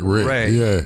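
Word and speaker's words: Rhea: I can tell you whenever it's a last name it's pronounced Ray but when it's a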